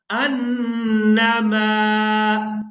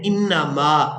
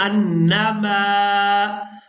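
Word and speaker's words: أنما: वला यहसबन्नल्लज़ीना कफ़रू अन्नमा, यहाँ पर बाद लोग मिस्टेक कर देते हैं, इसको पढ़ देते हैं इन्नमा। यहाँ हमजा पर ज़बर है तो ज़बर को ही अदा करेंगे। अन्नमा अन्नमा नुमली लहुम खैरुल लिअन्फुसिहिम इन्नमा।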